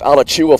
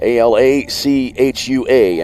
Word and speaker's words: Alachua: Lewis, a junior, 5'10", from, I believe it'll be pronounced Alachua, Florida. Alachua in Florida.